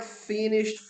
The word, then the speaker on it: finished: Mark finished fourth. Mark terminou. O verbo finish quer dizer terminar. Olha a pronúncia dele no passado, ó. Finished. Fala assim, ó.